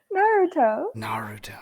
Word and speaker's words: Naruto: Naruto.